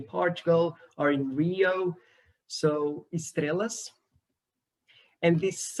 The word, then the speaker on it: estrelas: One feature is that the S in the syllables coda is kept. So it's preserved in my dialect, the S in the end. So in this word, I would say estrelas instead of estrelas, which would be what you expect here in Portugal or in Rio.